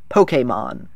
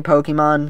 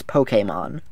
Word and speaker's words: Pokémon: the world of Pokemon Pokemon that's actually how you're supposed to pronounce it this is supposed to be an e like in resume I'll still say Pokemon because that's what I